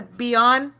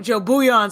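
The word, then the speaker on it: Bouillon: nice is that how you say it the beond the um bu buan I'm sorry I've been saying it wrong so Joe buan so he' call him Joe soup so he's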